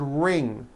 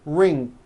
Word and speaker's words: ring: Some people who speak English as a second language have gotten into the bad habit of adding a k release sound like that after an ng ending. For example, in the word ring, it becomes ring. The word walking becomes walking. The word talking becomes talking like that.